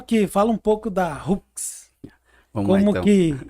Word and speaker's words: Hooks: Então, como eu disse, se fala Hooks, mas se escreve H, 2 Os, KS, que é uma abreviação ali de gancho, né?